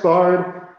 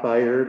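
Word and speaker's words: Baird: Tex Bard, who led the endowment of this lecture, first of all, it's pronounced Bard, not Bayard, or however you might read it, was born in 1912 in Texas, and passed away in 2009.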